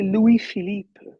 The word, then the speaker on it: Louis-Philippe: It's actually Louis-Philippe.